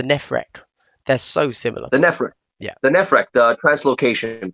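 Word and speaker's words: Nephrekh: The Nefrek.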